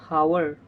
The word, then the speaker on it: hour: So here is H is silent.